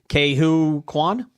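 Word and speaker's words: Ke Huy Quan: Some have said they would love to see a new adventure film or series that follows Ke-Huy Quan. Is that how you say it? Ke-Huy Quan? Quan, yeah.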